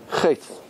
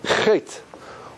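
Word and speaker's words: חטא: Chet. Chet. Which letter is silent?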